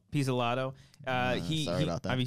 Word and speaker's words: Pizzolatto: Nick Pizzolatto. Pizzolato.